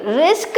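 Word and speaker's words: risk: मैंने कहा hello hello hello, actually तू है ना कोई चीज़ को गलत प्रोनाउंस कर रही है, यानी कि तू गलत उच्चारित कर रही है किसी शब्द को। तो तू कहीं रिस्क तो नहीं बोल रही है, यानी कि ये।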